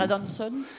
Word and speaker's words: Adanson: Comment on prononce Adanson, parce qu'il est français. Oui, il est français. Il prétend qu'il est d'origine écossaise. Donc, dire Adanson.